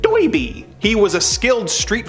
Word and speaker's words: Derby: His nickname is actually Derby after the hat he's always wearing, but his heavy accent makes him pronounce it Doiby.